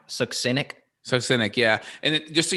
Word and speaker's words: succinic: We know candida's a piece of it, but man, and then look at the, I call it succinic, but I think it's actually pronounced succinic.